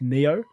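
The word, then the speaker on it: Nioh: play it yeah yeah pronounced Neo Neo yeah Neo to there's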